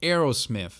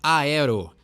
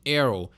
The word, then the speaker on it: Aerosmith: o Aerosmith bom então o jeito correto de se fala o nome dessa banda é heroism então tem aí o th no final e tem não pronunciar todas as letras do nome né não é Aero e sim Hero que nem crise pronuncia